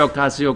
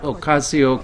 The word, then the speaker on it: Ocasio: I was gonna go there hey hey you pronounce her name you do a great job Alexandria el tatio Cortez Cortez Alexandria Ocasio Cortez job folks she has already lost her